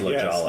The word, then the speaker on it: La Jolla: We were in La Jolla. Okay. Yeah. La Jolla. I believe it's pronounced La Jolla. Yes, right.